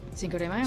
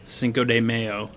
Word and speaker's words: Cinco de Mayo: I'm gonna say Cinco de Mayo. Cinco de Mayo. Right? That's how you spell it. Cinco de Mayo. Don't say mayo, Dan. Cinco de Mayo.